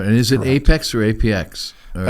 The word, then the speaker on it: APX: is it Apex or apx it's Apex platform is how they pronounce it yes okay and I've seen it in writing is the letter a letter P and x correct and that's still Apex right that's correct well